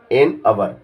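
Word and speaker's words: hour: अब ये बोलने, देखो यहाँ तो एच लिखा हुआ है, मगर उच्चारण में आ रहा है, क्या आ रहा है, अ का मतलब स्वर, अ का मतलब स्वर, एन अवर, तो स्वर आता है, उच्चारण में लिखा एच है, मगर उच्चारण को भी देखना पड़ता है। उच्चारण में स्वर आता है, वोवेल्स आता है, इसलिए एन अवर।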